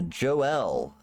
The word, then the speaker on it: Joelle: ate one yeah uh Joelle is her name spelled like kind of like Joel but it's Joelle uh you had conversation